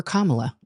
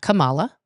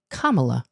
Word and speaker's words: Kamala: okay uh yes and I did vote for Kamala and that's how you say her name not Kamala okay Kamala I voted for no more dramaa with Kamala